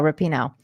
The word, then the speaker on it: Rapinoe: I say Rapinoe. There you go, Rapinoe.